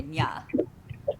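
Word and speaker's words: nhà: That NH is pronounced like an N with this in Spanish with the squiggle over it. Oh, like an inye. So, Nya.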